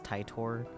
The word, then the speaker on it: Titor: It's Titor. They do say like John Titor in the anime. Yes, I am well aware I've been saying it wrong from the very beginning, and Titor is significantly funnier, and therefore I say it like that.